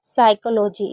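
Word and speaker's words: psychology: यहां पर हम जानेंगे पीएस अगर कभी भी साथ में होगा तो पी को नहीं पढ़ेंगे। जैसे साइकोलॉजी इसमें पी साइलेंट है और शडन मीन और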